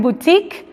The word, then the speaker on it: boutique: y boutique wood chic se fijan en boutique la u es moda y la moda boutique